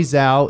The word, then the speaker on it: Zhao: Zhao. It's Zhao. Zhao? Yeah. Okay. It's like, remember, you know, from Xin Hao from League of Legends. That's how it's Yeah, pronounced. it's the same Cool. spelling.